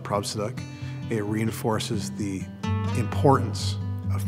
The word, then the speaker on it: Prabhsidak: year call my teachers they call me a now it's neither acceptable nor appropriate for us